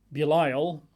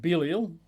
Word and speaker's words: Belial: margin says men of Belial, or men of Belial, depending on your pronunciation, surrounded the house and beat on the door.